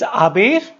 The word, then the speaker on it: haber: One thing, as you know, it's haber. Why? If in Spanish any word that start with H is silent, so the pronunciation is a, as, a, hemos, habéis, an.